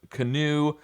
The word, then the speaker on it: canoe: Scarf, halal, roger, the the pasta thing, sharp, canoe, a line, ramen, and flare. Some interesting ones there. Canoe is weird because the OE says ooh, and a line has